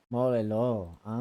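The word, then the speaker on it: Mol Iloh: Molelo.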